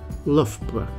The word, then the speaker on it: Loughborough: let's get it right the first syllable is L like in enough or rough or tough the second syllable is BR now that's B like in butter and R like in rug and you put them together to say lra let's practice this lra